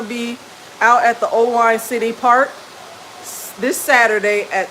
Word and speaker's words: Oelwein: Owine is spelled Oelwein.